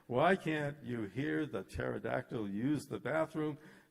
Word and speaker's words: pterodactyl: Why can't you hear the pterodactyl use the bathroom? Because the P is silent.